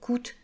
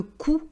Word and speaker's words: coût: très cher donc le coût de la vie euh donc vous voyez quand on dit le coût on dit pas le coûte pour les personnes qui après le français on ne prononce pas la dernière cons sonne